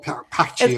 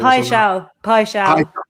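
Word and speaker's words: Paixão: Igor Paccio. It's Pai Shao.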